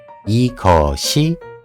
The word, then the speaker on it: 이것이: Then, if these are attached to the subject marker, how we pronounce it? ‘이거시‘ ‘이거시’ ‘이거슨‘ ‘이거슨‘ ‘저거시’ ‘저거시‘ ‘저거슨‘ ‘저거슨’ ‘그거시‘ ‘그거시‘ ‘그거슨’ ‘그거슨‘ That’s good.